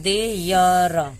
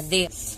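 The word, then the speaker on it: there: ई यहां पे ई ई का कोई उच्चारण नहीं होगा क्योंकि इ लास्ट में लगा होगा सिर्फ उच्चारण होगा र का तो देय र देयर यहां पे हम इसको पढ़ेंगे देर अब यहां पे एक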